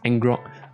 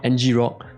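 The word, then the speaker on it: ngrok: port to the public and yes it is pronounced as angrog not ng rock so don't go crazy on me and then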